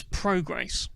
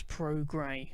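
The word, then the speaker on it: Prograis: agent it's actually progre I was calling him pro grace last week and then having all sorts of fun with Barry Jones you know are you happy with the progress of pro grace and all of that sort of stuff but I've since heard it pronounced as Pro gray as in like you you're supportive of the color gray but anyway the American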